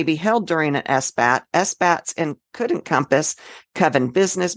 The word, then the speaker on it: Esbat: a solar gear and these are called s-bats pronunciation might be s-bot or s-bot but I always do the a as an a which may not